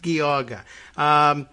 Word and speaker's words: Geauga: It's pronounced Geauga.